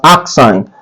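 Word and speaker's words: arcsine: Please don't call this sine inverse. It's pronounced as arc sine of 0.8009.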